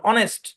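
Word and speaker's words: honest: দরকার নাই মুখস্ত করেন অনেস্ট অনেস্ট শব্দের শব্দের মধ্যে এইচ সাইলেন্ট ভাই একটা কথা বলি যেসব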